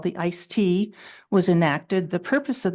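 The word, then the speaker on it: ISTEA: Surface Transportation Efficiency Act, or ICE-T, as its acronym is pronounced.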